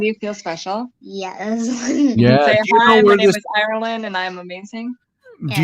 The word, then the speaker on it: Ireland: and ireland and scotland ireland ireland is ireland and uh and it kind of rhymes with iron yes yes yeah and